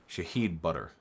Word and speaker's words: Shahid Buttar: Shahid Butter. That's how you pronounce it.